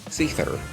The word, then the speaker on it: Seiðr: Mythic and horse uoc for the book Seether and yes that is how you pronounce her name that's what the weird letter used sounds like it's a th sound uh her weapon basically